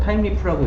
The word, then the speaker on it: Thymeleaf: 이게 스펠링이랑 발음이랑 좀 달라요. 타임리프라고 읽어요.